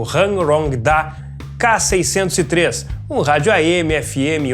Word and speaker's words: Hanrongda: unbox e review do Hangrong-Da K603. Chegou a hora de abrir mais um aparelho, que é esse aqui, o Hangrong-Da K603. Essa aqui é a pronúncia correta. Hangrong-Da, que é um rádio irmão do Ritex, né?